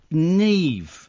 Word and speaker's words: Niamh: Neve. Yeah. It's spelled Niamh.